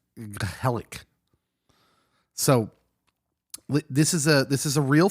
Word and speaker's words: gezellig: and pronounce this right, Gezellig. It sounds like you have a loogie that you're trying to spit up.